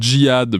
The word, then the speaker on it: jihad: c'est en Arab le le mot se prononce quand même jihad donc il pas de